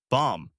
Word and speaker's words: bomb: The B at the end is silent. You say bomb.